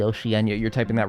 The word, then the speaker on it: Oceania: Oceanenia. Oh, it's actually Oceania.